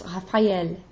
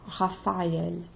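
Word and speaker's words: Raphaël: And then the tréma tells me to pronounce the second vowel instead of having it just kind of slide into like Raphael. It's Raphael. L is just as important as A, Raphael.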